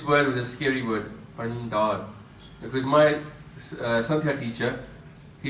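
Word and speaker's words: ਭੰਡਾਰ: So it's 'Bhan-ddaar,' It is 'Dadda.'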